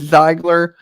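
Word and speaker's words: Ziegler: can't pronounce their zeigler i thought it was a g for a second but it's zeigler so that was a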